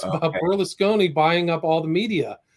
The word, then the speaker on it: Berlusconi: And so how do you pronounce his name again? Berlusconi.